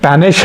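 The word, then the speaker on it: panache: इसका प्रोनाउंसिएशन पेनिश है। पी ए एन ए सी एच ई।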